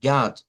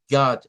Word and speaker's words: God: se escribe así pero no se pronuncia esto como una O del español sino que ustedes escucharán que dicen God God es precisamente el sonido